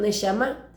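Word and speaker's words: neshamá: Son dos palabras, una de ellas compuesta, nesama, pronunciación nesma.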